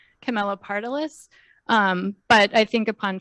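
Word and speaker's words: Camelopardalis: to sketch so and it's not actually unpronounceable it's pronounced pretty much how it looks Camila partalis um but I think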